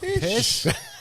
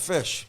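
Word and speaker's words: Phish: Am I pronouncing it right? Fish concert in Virginia. Pish.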